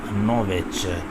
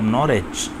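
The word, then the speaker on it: Norwich: जगह का नाम है जूलियन नोवेच। ओके जी, ऐसे पढ़ लें, डब्ल्यू साइलेंट कर सकते हैं, आहिस्ता आहिस्ता प्रोनाउंसिएशन का भी lead. Julian of नॉरिच, right pronunciation, तो ये मोस्ट करेक्ट प्रोनाउंसिएशन नॉरिच।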